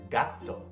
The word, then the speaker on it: gato: Put it all together and you get the word gato. Let's do one more example. The Spanish word meaning apple is spelled M-A-N-Z-A-N-A.